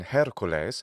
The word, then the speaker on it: Hercules: So classical Latin Hercules, ecclesiastical Latin just doesn't pronounce the H.